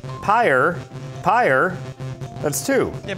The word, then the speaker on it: Pyre: whoa crazy somebody says pronounced like pyre Greg cassavin's game is Empire it's again it's pyre pyre that sounds like one syllable to me per a pear you